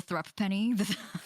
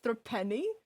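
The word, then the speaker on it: threepence: that you're just desensitized now it's threepne it's pronounced threatening the the thrupp penny yeah i was like throw penny pray forgive the discourtesy the irrelevance of this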